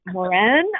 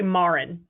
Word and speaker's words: Mauren: you to remind me is your last name pronounced moran i'm embarrassed i'm thinking no that's okay my name gets pronounced lots of different ways it's actually marin marin that's right yeah